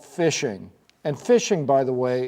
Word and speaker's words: phishing: These scams are called phishing, and phishing, by the way, is spelled with a PH, but it's pronounced phishing.